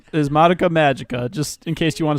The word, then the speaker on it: Madoka Magica: The real name is Madoka Magica, just in case you want to search for it.